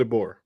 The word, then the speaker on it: DeBoer: Kalen DeBoer. Kalen DeBoer. I thought it was pronounced weird, so I guess I haven't been pronouncing his name.